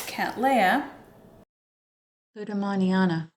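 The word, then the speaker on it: Cattleya lueddemanniana: second it is quite a lot of English syllables it is cat Lea Lam Manana now if the camera focuses on this that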